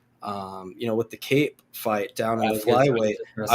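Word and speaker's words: Kape: Man, Cape, man, he is a Cape or Cop, or I don't know how to pronounce it, but I think it's Cape. Cape, okay.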